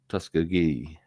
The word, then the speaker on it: Tuskegee: The G is pronounced as a solid G rather than a J. Tus G, something like that.